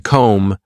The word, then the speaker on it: comb: In comb the B is silent.